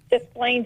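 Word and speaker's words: Des Plaines: B and let me see if I I pronounces correctly desplenes Illinois so B are you okay with that you say it B the Plains Illinois just Plaines Illinois okay good good excellent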